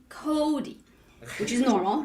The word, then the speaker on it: Kodi: natural speech way right like Cody right so we emphasize yeah that's you that emphasize the first syllable right so the second